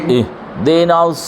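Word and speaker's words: اهدنا: ইহদিনাস ইহ দিনাস ইহদিনাস ইহি যেন না হয় ইহ রসাই হয় হসন্ত হয়ারে চাপে ধরতে হইবে হামজা হাজের ইহ এবং হলকের শুরুতে কি দুইটা হরফ দুইটা হরফ ই ও ঐখান থেকে হা ওইখানে ওইখানেই চ্যাপ্টা ধরতে হবে ইহদিনাস সিরাতাল মুস্তাকিম ইহদিনাস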